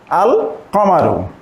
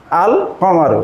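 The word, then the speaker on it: القمر: যুক্ত করি তাহলে হচ্ছে আল কামারু আল কামারু এখানে কিন্তু লামটি উচ্চারিতে উচ্চারিত হচ্ছে অর্থাৎ লামটা উচ্চারণে আসছে এবং এই হরফের পূর্বে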